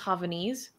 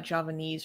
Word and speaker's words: Javanese: close it's close it's it's spelled with a J like Java Javanese or something in that language I